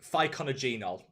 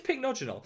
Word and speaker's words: Pycnogenol: it was really bad i used to always pronounce it ficonogenol which is actually really hard to say really hard to say it's pinknotional but i actually think